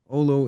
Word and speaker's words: Olo: an overview of what Olo is I hope I'm pronouncing it correctly L yeah that's right ol it's it's actually a Finnish word meaning feeling and being so we